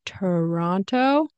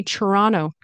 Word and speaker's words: Toronto: say Toronto Toronto Toronto I believe locals will say it differently like Toran Toronto or something like that but I say Toronto Toronto Toronto right sometimes I'll pronounce the T here sometimes I won't and get rid of the